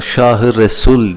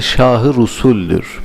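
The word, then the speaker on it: Şâh-ı Rusül: de geçiyor kurbanın olan Şahı usul bazen yanlışlıkla Şahı Resul diye telaffuz ederler doğru değildir Şahı usulüdür şu o günlerin Şahı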